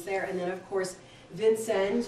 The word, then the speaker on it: Vincennes: and then of course vincennes or with a French pronunciation of SN so those are the